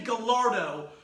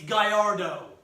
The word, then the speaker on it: Gallardo: And if you say Gallardo, I will find you and drive a railroad